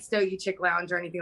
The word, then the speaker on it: Stogiechik: So for me, it's Stogiechik. So normally chick is spelled CHICK. Mm-hmm. I took out the C, so CHIK.